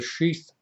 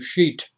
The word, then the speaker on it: sheath: Now, I'm not saying sheet, I'm saying sheath. Sheath, if I spelled it correctly. Sheath, I believe, is the way it's supposed to be pronounced. Some people are calling it the sheet body. It's not a sheet, it's sheath in that sense, okay?